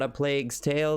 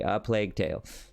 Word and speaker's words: A Plague Tale: It's not A Plague's Tale that I've been screwing up so repeatedly. No, now we are saying it correctly. A Plague Tale.